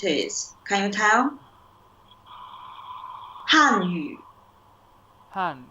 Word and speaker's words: 汉: 汉语 Han is falling tone.